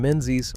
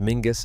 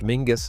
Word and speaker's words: Menzies: Number 17, Menzies, pronounced Mingis, and one of Scotland's most misread names. Menzies, pronounced Mingis, not Menzies, is one of those Scottish surnames that immediately reveals whether you know Scotland or not.